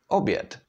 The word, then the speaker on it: oběd: So this syllable would be actually pronounced bě, like in a word oběd, which means lunch.